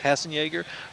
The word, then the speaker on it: Hassenjaeger: Robert, I think it's pronounced Hassan. Well, there's a Y in here, and I don't think that's supposed to be there. Hassenjaeger. Yeah, Hassenjaeger, who's the club master, and Jim Watson, assistant club master.